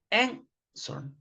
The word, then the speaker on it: answer: This verb ends in consonant, vowel, consonant, but you don't double the consonant because the stress is in the first syllable. Answer.